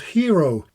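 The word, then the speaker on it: Hiro: that she co-developed and it's called Hero. Not the kind of hero that you look up to or one that saves somebody, but it is spelled H I R O.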